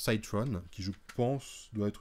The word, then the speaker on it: Cyron: nom c'est Cyron oui ceux qui n'ont pas l'accent anglais onont dire citron mais voilà en prononce Cytron qui je pense doit